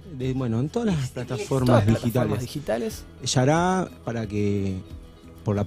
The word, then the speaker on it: Xara: Yará, para que, por la pronunciación, se escribe X-A-R-A, sería para nosotros ir a Sara, pero bueno, es un término brasilero, así que nosotros lo pronunciamos como es.